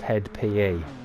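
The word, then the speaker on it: (hed) p.e.: In brackets, HED, close brackets, P.E. They're pronounced Head PE.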